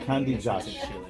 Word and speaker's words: Candias: it's pronounced Candias.